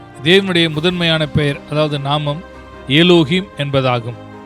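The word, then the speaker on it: Elohim: கடவுளின் பெயர்கள்: பழைய ஏற்பாட்டின் எபிரேய மொழியில் , கடவுளின் முதன்மையான பெயர் எலோஹிம் ஆகும். நாம் அதை ஆங்கிலத்தில் 'எலோஹிம்' என்று உச்சரிக்கிறோம் .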